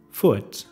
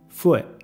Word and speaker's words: foot: Se puede pronunciar normal, foot, pero la mayor parte de los de madrelengua dicen fue. Antes de pronunciar el T, para el aire que sale de la garganta mientras que alza ligeramente la frente de la lengua.